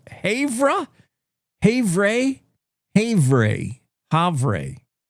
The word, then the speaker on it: Havre: Uh Havre?